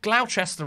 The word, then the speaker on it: Gloucester: I should have mispronounced it. Gloucester Road and Upminster. Sorry, that's the correct pronunciation.